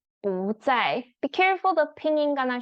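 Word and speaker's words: 不在: answer, you can say 不在不在. Be careful, the pinyin gonna show you fourth tone. But because 在 is fourth tone, your 不 actually need to pronounce as second tone.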